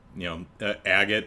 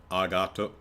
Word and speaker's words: Agate: Agate is agato, kurosuna. So it's probably agate, but agate's probably close enough for English.